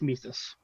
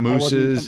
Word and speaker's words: Mises: but it's it's atomism it's like the mises thing but it's it's mises oh we i think we settled that in the group chat earlier right it's not mooses it's not me it's mises i just got to